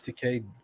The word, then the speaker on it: Takei: Is it George Takei? Takei. Yeah. Oh, I don't fucking know. No, isn't it? It is because he often says my name rhymes with gay.